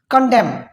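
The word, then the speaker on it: condemn: कंडेम, एन को silent रखना है, क्यों, क्योंकि एम के बाद आया है, इसलिए हमने इसको प्रोनाउंस करना है कंडेम।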